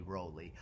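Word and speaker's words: Rowley: me nothing about Anthony Rolly, other than that his name rhymes with roly-poly.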